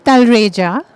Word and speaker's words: Talreja: Okay, you got the pronunciation almost right. It's it's Talreja.